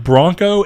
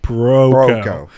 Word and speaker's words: Broco: Dude, Don Bronco. The second ago when I said Don Broco, I had to stop and say Broco.